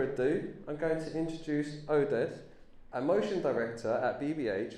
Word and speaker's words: Oded: Okay, so I'm Oded. This is how you pronounce my name.